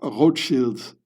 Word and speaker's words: Rothschild: So, now I pronounce it in French because this is the French wing of Rothschild. And the French say Rothschild.